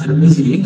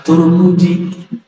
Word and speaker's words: Tirmizi: Jangan-jangan dia nggak baca hadis Tirmizi, kan? Bacanya cuma hadis Turmuji.